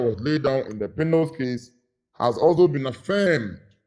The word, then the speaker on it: Pinnell: in a case popularly referred to as the Pinnell's case. Pinnell is spelled P-I-N-N-E-L, apostrophe S.